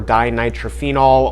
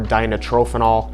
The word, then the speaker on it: dinitrophenol: DNP is short for dinitrophenol or dinitrophenol. I've heard it pronounced both ways, but what DNP essentially